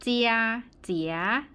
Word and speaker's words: 姐姐: ๆ เสียง ที่ 3 เจียเจี๋ย เจี่ย คำ หลัง ไม่ มี วรรณยุกต์ นะ คะ อ่าน ว่า เซีย เหมือน กัน แต่ ว่า ถ้า ตัว ไหน ไม่ มี วรรณยุกต์ ต้อง ออก เสียง เบา ๆ และ สั้น นะ คะ เพราะ ฉะนั้น